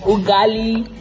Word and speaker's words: ugali: You guys, so I'm about to eat ugali, right?